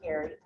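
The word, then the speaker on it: Geary: And so I reached out to my foster sister, former foster sister, Colleen Gary, G-E-A-R-Y, spelled G-E-A-R-Y, pronounced Gary.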